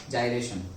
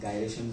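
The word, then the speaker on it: gyration: अभी गायरेशन बोला जाता है मेरे से, क्यों? क्योंकि पहले में गायरेशन बोला था, फिर पता चला कि जाइरेशन बोला। ओके, दोनों प्रोनाउंसिएशन है एक्चुअली तो, ओके, बट मेजरली अभी जो चल रहा है दैट इज द जाइरेशन।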